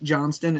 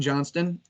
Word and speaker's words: Johnston: I don't know why they put a T in Johnson. It just throws me off every time. Like Johnston, it makes me throw the whole word out.